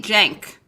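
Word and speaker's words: Cenk: guests who i feel like they have nothing chank uger's dick it's actually jank jack it's pronounced but um that's what they're offended by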